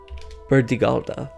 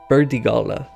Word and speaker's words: Burdigala: Bordeaux began as a Celtic town by the name of Burdigalda. That's not right. Burdigala.